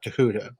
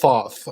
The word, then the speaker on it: Thoth: the the hellenization of the Egyptian god tahuta who's usually mispronounced Thoth or yes I remember when